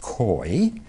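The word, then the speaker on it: keu: We would spell it K-E-U. It's pronounced koi, and it is the same root from which the word curve comes from.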